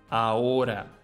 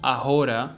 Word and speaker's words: ahora: Ahora. A mute H sound, much like most H's in Spanish. This word sounds like ahora, not ahora or ahora, but ahora.